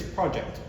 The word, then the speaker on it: project: If it's a noun, the emphasis is on the first syllable. So in this case, it's project.